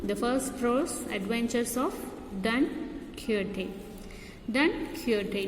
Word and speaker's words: Don Quixote: in term 2, the first prose, adventures of Don Quixote. Don Quixote, not Quixote. How do you pronounce it?